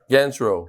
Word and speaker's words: Ganchrow: How do you pronounce? Ganchrow.